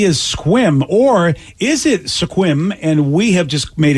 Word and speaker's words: Sequim: you did yep yep Sequim yep also stupid well they should just spelled it squim I feel like that